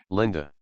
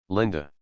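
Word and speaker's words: Lynda: Lineda would spell it because the inside Y is pronounced I. Lineda. And I'm going to use special uh Excel speaker to say this word. Linda. Linda.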